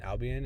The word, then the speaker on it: Albion: We got a severe storm now, so up by Albin, is that how you say it? Albion in Nebraska.